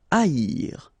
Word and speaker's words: haïr: Okay, so keep in mind that here you will pronounce it like I, A-ir. First H is not pronounced, okay, so A-ir. Haïr.